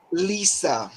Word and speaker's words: Lise: Her name is pronounced Lisa.